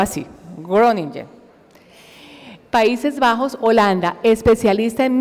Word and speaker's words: Groningen: Yo le pregunté si se pronunciaba así, Groningen.